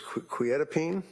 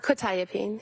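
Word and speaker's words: quetiapine: probably mispronouncing this quetapene. Uh quitapene.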